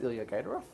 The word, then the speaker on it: Ilya Gaidarov: Joining me today is Ilya Gaidarov.